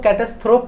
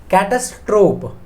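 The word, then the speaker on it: catastrophe: बहुत पूछा जाता है तो थोप मत padhiyega कई लोग उसको कैक्टस thrope पढ़ देते हैं तो फिर उनका स्पेलिंग में एरर होना नॉर्मल सी बात हो जाती है catastrop padhiyega आप इसको क्या होता है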